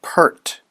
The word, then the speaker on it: PERT: RT sometimes called the PERT formula because PE RT from left to right can be pronounced pert the base e is